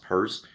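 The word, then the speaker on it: Peirce: a Christian but you know philosopher Charles purse pronounced purse but spelled Pierce like Pierce broen AKA 90s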